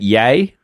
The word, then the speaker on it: Ye: to concede that I you know I got it wrong it's pronounced yay not Y and it's one of